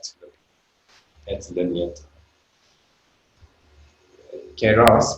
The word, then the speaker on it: kairos: Keros, which is how you pronounce that, Kairos for the English, is about time which isn't measured.